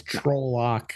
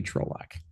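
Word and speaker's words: Trolloc: o truck um rhy somebody says rhymes with bollocks trols yeah that's that's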